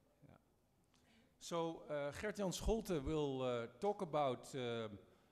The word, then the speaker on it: Gert Jan Scholte: He's also known, yeah, it's a difficult name to pronounce, I agree. Gert Jan Scholte. There's a few more countries who do the G. The Portuguese are pretty good with the G, and the Pashtuns in